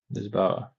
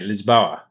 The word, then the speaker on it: Lisboa: couple of days in Lisboa. We're not going to Lisbon. Porto, Lisboa. Just saying. Because you said Lisbon. Oh, Lisboa. That's the Portuguese. Is that? Am I saying it the right way? Lisboa.